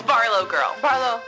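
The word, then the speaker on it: BarlowGirl: first we start off uh Barlow can you pronounce it for me please it's Barlow girl bar Lou Barlow girl you know lots of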